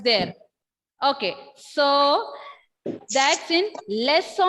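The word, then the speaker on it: leçon: When I said lesso, here N is silent.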